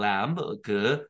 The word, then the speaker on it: lamb: 램, 이거 또 잘못 봐서 램프 생각하면 안 돼요. 뒤에 비잖아, 그죠? 묵음입니다.